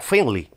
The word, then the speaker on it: Finlay: acotar que su apellido como es de origen escocés se pronuncia finly finl e tenía una